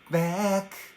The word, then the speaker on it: back: 次いきますよ。back。